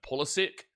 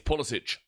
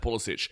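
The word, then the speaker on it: Pulisic: Really want to emphasize this here for the Americans who watch their team and say that they love Christian Polysic. It's Polic. His name is pronounced Polic.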